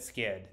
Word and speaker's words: SCHD: U.S dividend Equity ETF SC HD or as I like to pronounce it skid skid has a long